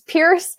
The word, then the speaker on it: Pierce: business name is Pierce. So you can find either one of those, Pierce like you pierce an ear, and like rhymes with fire.